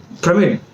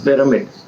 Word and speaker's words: pyramid: will learn the best i remember i pronounced the word permit and people around me laughed i said why pramid what's wrong with that pronunciation is right premier they said no it is pyramid i said pramid they said pyramid we kept laughing then i went to google google said american pronunciation british pronunciation it both said pyramid i was the only